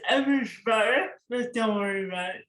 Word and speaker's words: Abujbarah: Could you pronounce your last name for me? It's Eversbar, but don't worry about it.